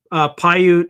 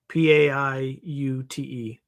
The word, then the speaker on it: Paiute: Paiute is, I'm going to spell it phonetically like I would in the military. Papa, Alpha, India, Uniform, Tango, Echo. Paiute.